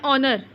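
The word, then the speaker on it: honour: आर, तो देखिए एन ऑनर, ठीक है, ऑनर में ओ का साउंड आ रहा है, हॉनर बोल रहे हैं, हॉनर सिर्फ लिखा जाता है, हॉनर बोला नहीं जाता है, एच साइलेंट है।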